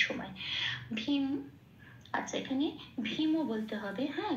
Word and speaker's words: ভীম: ভীম, আচ্ছা এখানে ভীমও বলতে হবে, হ্যাঁ যেহেতু ময় হসন্ত নেই, মটাকে ভাঙছি না, সেই জন্য মটাকে ম হিসেবেই উচ্চারণ করতে হবে ভীমও, এখানে কখনো ভীম বলতে পারবো না, ভীমও।